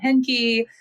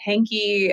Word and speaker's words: Henke: uh my name is heny though if you're in the South they pronounce it hanky and we just run